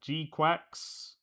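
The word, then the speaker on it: GQuuuuuuX: Uh Gquax, that is how you pronounce it.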